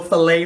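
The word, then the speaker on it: filé: I got some gumbo file, or gumbo filet for you hippies that want to say it correctly.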